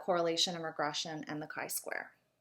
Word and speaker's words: chi-square: and the third one is something called the chi square i know that looks like chi square but it's actually pronounced chi-square again there's many different types of